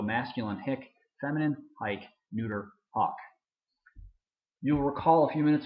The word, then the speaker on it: hoc: we get hick hike hawk who is listen to the difference there between the long o and the short o the neuter accusative singular hawk the neuter ablative singular